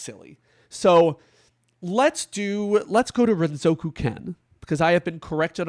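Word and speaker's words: Renzokuken: I don't really know how I always called it Renzo Zuken as a kid because I'm uneducated.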